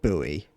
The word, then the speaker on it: buoy: I bet you'd hate that I pronounce it boy as well and not buoy.